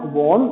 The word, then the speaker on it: borne: For example देखो बॉर्न, BORN, बॉर्न, BORNE, ठीक है। ये दोनों वर्ड का जो प्रोनाउंसिएशन है, बोलने का जो तरीका है, वो दोनों का सेम है, बॉर्न, बॉर्न, ठीक